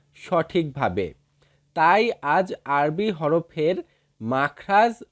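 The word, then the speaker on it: ت: এরপরে রয়েছে তা। তা।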